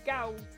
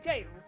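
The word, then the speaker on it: gaol: you know that the word that you just pronounced as Gao is actually jail?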